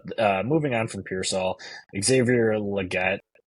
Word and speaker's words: Xavier Legette: church um but uh moving on from peol Xavier Legette right that's how you say his name um